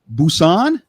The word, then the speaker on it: Busan: Korea right now which how's it pronounced Busan Busan uhhuh like like boots on I got my boots on well yeah kind of close to that boots on oh okay good